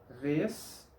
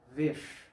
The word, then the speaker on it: vez: Un ejemplo de palabra terminada en Z en las dos pronunciaciones posibles. Vez, vez.